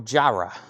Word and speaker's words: Gyra: over here all right the G is pronounced J Spyro Gyra Gyra Gyra why didn't they spell it with a J then makes much more